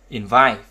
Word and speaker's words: invite: Trọng âm thường rơi vào âm tiết thứ hai đối với phần động từ hai âm tiết.